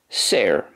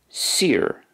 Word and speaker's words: saor: Moving on to the Irish for free, which is saor, saor. That's the way it's pronounced, generally speaking, in Munster, saor. But in Connacht, sear, sear. And it's the same as that in Ulster, sear. So it's saor in Munster and sear in the other 2 dialects.